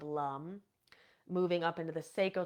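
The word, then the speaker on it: lam: chalk Shakra is Lum it's spelled l a m but we pronounce it Lum and um and I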